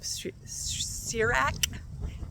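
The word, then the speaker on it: Sirach: the yearly Bible I'm on the book of sirak that's how you pronounce it and I actually that book kind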